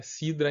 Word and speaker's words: CIDR: Em inglês, né, CIDR é Cidra em português. Eles pronunciam assim essa sigla, que quer dizer Classless Interdomain Routing.